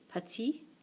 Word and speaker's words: petit: Don't get pronounced here, but they do get pronounced here because of the E. Short. Petit, petite.